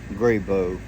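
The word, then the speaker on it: Grabow: he smoked Dr grabo grabo to me being from the south that's the way I pronounce it always have always will so anyway he's he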